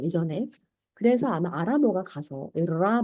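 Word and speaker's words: راء: 차이는 얘는 약간 위로 꺾여 있고 이 아이는 밑으로 약간 내려가 있는 편안하게 내려가 있는 이 아이의 발음은 라입니다. 라.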